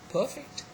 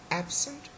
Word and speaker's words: perfect: When the word is an adjective, the first syllable is stressed.